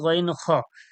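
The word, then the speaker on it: غ: পড়া দেওয়া রয়েছে মাখরাজ নাম্বার তিনে কি রয়েছে গইন খণ্ঠনীর শেষ অংশ হইতে উচ্চারণ হয় গইন খুন গইন জবর গইন জের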